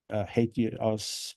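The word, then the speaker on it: HATEOAS: engine of application State hate you us for sure it's a weird pronunciation it sounds like somebody hates something but I don't know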